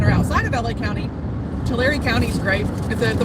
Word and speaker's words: Tulare: i was just thinking my mnemonic device is uh that you're writing a letter to larry dear larry i live in tulare two two very anyway